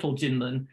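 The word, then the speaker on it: 金門: So so this island, it's called in English Kinmen, or it's pronounced Jinmen in Chinese.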